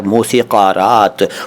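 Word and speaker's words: मौसीक़ारात: 'का' मत कहो यार, मौसिकरात।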